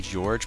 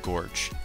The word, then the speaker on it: Gorge: his name is gorge you want to say George but there's no e at the end so it's pronounced Gorch and that's how I'm